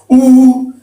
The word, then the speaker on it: U: And then we have the T, U, almost sounds like O-double-O-H is how you pronounce it. U, and this is we, ye.